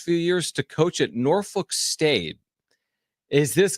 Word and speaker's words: Norfolk: it like the Cur norfol if you're from there you say it like the curse norfol norfol oh that's tough